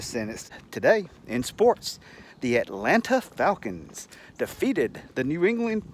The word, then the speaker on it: Atlanta: let's start off us use the the correct pronunciation let's use it use that in a sentence today in sports the Atlanta Falcons defeated the New England Patriots to become